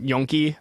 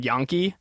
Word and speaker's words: gnocchi: I know some people pronounce them yonki. I pronounce them yonki.